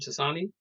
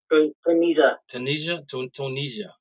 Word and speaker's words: Tunisia: Is that how you pronounce it? Tasani? Tunisia.